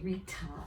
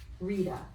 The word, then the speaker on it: Rita: we don't usually say rita it's rita it almost sounds like a d rita okay let's finish